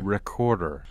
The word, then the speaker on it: Wreckorder: And is it pronounced Wreckorder? No, just Wreckorder. Wreckorder.